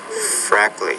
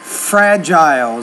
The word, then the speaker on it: fragile: Major, measure, fragile, freezer, Fragile is the word there.